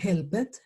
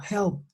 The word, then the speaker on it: helped: Entonces, yo ya no puedo decir helped, yo digo helped. Estas dos, la E y la D, van a sonar como una T.